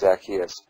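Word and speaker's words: Zacchaeus: yes I said the the proper pronunciation is zakus but we Yankees almost you know most start always start the emphasis too a little too soon zachus zakus zakus said Moody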